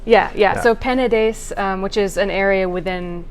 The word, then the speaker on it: Penedès: I think it's Penedès. Penedès. There's not the sound that you get in Portugal. Yeah. So Penedès, which is an area within the Catalan region, or Catalunya.